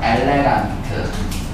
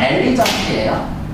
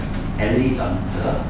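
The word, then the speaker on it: elegant: 엘레강트. 엘리, 원래 발음은 엘리전트예요. 엘리전트. 프랑스 발음이 엘레강스고.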